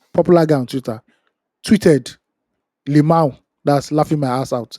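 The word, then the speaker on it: LMAO: As Temi Season, popular guy on Twitter, tweeted Limau. That's laughing my ass out. Limau. You know, Nigeria, we don't use Mhm. we pronounce the abbreviation.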